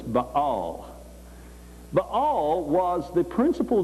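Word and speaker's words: Baal: was but all yeah this is the name Bale as the way we normally pronounce it but to them it was ball but all was the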